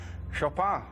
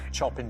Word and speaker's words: Chopin: and I used to call him chopping I used to get the name wrong so I'll go for shopper okay yeah yeah chopping chopping to you show Pat